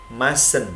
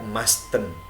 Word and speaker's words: mustn't: boleh disingkat menjadi master nah dibacanya mesen tidak masten enggak boleh tetapi mesen hai untuk jadi kalimat tanya